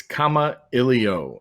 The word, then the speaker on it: Kamailio: come up what and it's comma Ellie oh I have it phonetically spelled out for anyone that might need help saying it it's a Hawaiian word that means to communicate and it was chosen